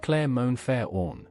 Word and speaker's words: Clermont-Ferrand: He traveled to Clermont-Ferrand, pronounced Clermont-Ferrand, in France. Clermont-Ferrand was Michelin headquarters.